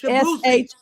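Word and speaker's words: Shaboozey: I'm gonna say it wrong. Shabozy or Shabuzi. It's Shabusi. SHABOOSEY.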